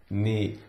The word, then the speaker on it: knee: the word KNE KNE the K is silent KN knee Pony pony nurse nurse